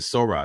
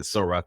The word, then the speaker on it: Sora: that happened over Sora is it Sora that's how you pronounce it I said Soros I said Soros last time so you know the